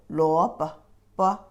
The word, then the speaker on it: 萝卜: And this second character also light touch tone. 萝卜.